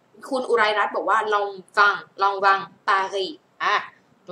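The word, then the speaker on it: Lanvin: ตัว นี้ นะ คะ ออก เสียง long วัง ลอง วัง นะ คะ ตัว นี้ เสียง ออง ออก เสียง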